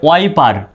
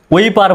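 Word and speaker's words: wiper: একইভাবে ওয়াইপার, ওইপার বলে তাহলে কিন্তু ভুল হবে, এটা কিন্তু ওইপার নয়, ওয়াইপার, কেননা এখানে WIY উচ্চারণ হবে, ওয়াই, WIY।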